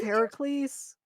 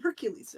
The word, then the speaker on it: Heracles: like ever heard of Heracles Yeah Yeah Yeah from the Disney movie they call him Hercules right yeah that's not how you say it in the Greek just kind of like